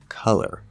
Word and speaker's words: color: this contrast how about the word color the first syllable is stress k second syllable is not blur now there's still